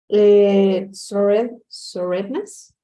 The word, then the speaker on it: soreness: Soreness? Soreness. Remember that the E Soreness. is not going to be pronounced. So soreness.